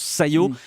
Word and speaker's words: SCiO: Ça s'écrit S-C-I-O, mais on prononce Sayo.